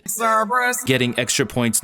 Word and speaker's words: Cerberus: Now Cerberus, the mythical three-headed dog that guards the gates of Hades, is 3 syllables. But in order for it to fit into our 2-syllable pattern, Louisa pronounces it Cerberus, getting extra points not